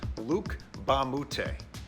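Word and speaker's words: Luc Mbah a Moute: bad as it looks the m is silent so it's luke bamboote luke ba moutay actually went to monvert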